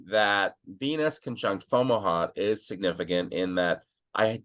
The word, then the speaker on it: Fomalhaut: So like I say it like Camelot, Fomalhaut, right? Fomalhaut.